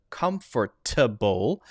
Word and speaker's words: comfortable: that i cover more in depth in my pronunciation course the light d is not a t so instead of comfortable you'll often hear comfortable double double double comfortable